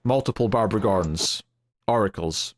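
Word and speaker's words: Aurakles: like multiple barbar gorens oracles right no it's a u r a k l s right although I I assume it's pronounced the same or at least similar right oracles oracles I don't know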